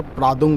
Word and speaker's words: প্রাংদুম: আমরা এতক্ষণ বলছিলাম উচ্চারণটা ভুল হচ্ছিল। প্রাদুম পাদুম করছিলাম। ওটা হচ্ছে প্রাংদুম।